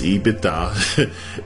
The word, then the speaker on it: EBITDA: EBITDA, pronounced EBITDA, is a modification of the profit formula.